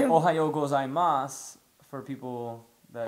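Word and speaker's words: おはよう: Ohayo.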